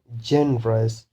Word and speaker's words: generous: Or another thing is a consonant, generous, generous. If it is ending in a consonant, three syllabic word ending in a consonant, then the stress will be on the first syllable, generous.